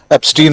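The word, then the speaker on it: Epstein: आपने ठीक कहा, उच्चारण राहुल गांधी ने भी एप्स्टाइन ही कहा था, हम लोग भारतीय लोग उसको एप्स्टीन ही कह रहे हैं।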